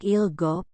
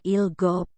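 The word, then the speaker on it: 일곱: Tetapi untuk ilgop, 7, yodol, 8, dan ahop, 9, suku kata pertamanya lah yang harus Anda tekan. Jadi, cara bacanya adalah ilgop, yodol, dan ahop.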